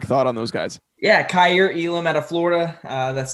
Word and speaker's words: Kaiir Elam: us a quick thought on those guys yeah cair elam out of florida uh that's the correct pronunciation there just length is the first thing